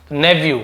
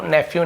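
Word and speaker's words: nephew: भा भाजा या भा भतीजा भाई भांजा भतीजे नेवू ऐसे नेवू नेफ्यू नेफ्यू बोलते हैं अग्री अग्री याने सहमत होना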